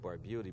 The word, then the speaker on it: Barbutti: in the air so there's your name bar beauty or Barbuda you know I said well I always pronounced it by beauty but my family did